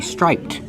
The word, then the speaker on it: striped: But if I describe the shorts, I say striped with ed d making the t sound. Striped. These are striped shorts. But when you link the sounds, the t is between consonants, so you don't really hear it. It's a stop t.